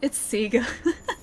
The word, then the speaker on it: Sega: It's Sega. I just like to say that it's both. Just depending on where you are in the world, it is both. Both pronunciations are correct.